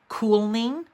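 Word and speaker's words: kulning: was like, what is calming? And it's actually pronounced cooling, like cool.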